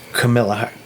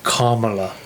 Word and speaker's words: Kamala: Now they want Camilla. Oh, I said it wrong. Kamala.